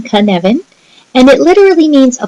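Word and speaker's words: Cynefin: professional learning so Canan is a Welsh word pronounced as I'm saying Canan and it literally means a place or a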